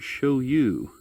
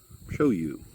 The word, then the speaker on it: ShouYu: uh it's called the show you S Y dash X5 that is s-h-o-u-y-u show you is how I would pronounce it um it's a full